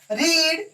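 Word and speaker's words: read: इसको रीड पढ़ेंगे, इसको रेड और इसको भी रेड पढ़ेंगे।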